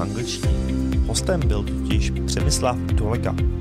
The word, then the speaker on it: Przemysław Dołęga: my guest today is and please help me pronounce it better. Is it Przemysław Dołęga? Przemysław Dołęga, yes, but okay.